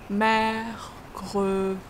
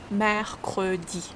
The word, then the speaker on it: mercredi: Mercredi. E. Smile when you pronounce E. Mercredi.